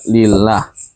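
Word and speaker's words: لله: adalah lafzul jalalah lillah ini aslinya Allah cuman ada lam di sini disambung ahah disambung akhirnya jadi alifnya hilang jadi bacanya lillah nah lam ini adalah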